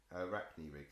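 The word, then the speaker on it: Arachni-rig: the bandsaw you can help me with the pronunciation a rack new week Arachne Rick thank you so now you'll hopefully hear Michael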